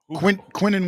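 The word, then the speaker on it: Quinnen: Quinton Williams.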